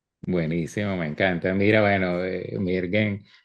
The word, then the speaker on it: Mirgen: Mira, bueno, Mirgen, ¿cómo pronuncias tu nombre bien? Mirgen, Mirgen.